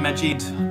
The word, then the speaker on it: Majid: good evening majid am i pronouncing your name correctly it's the question i